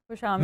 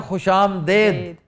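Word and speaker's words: خوش آمدید: Line अस्सलाम वालेकुम खबर हार में खुशामदेद। This is wrong. खुशामदीद। खुशामदीद, वाह, खुशामदी, खुशामदीद। तो सर आप रॉन्ग क्यों करते हैं? इंडियनाइज्ड है ये। हमने खुशामदेद को ज्यादा कानों के लिए भला पाया, हमें ज्यादा अच्छा लगा।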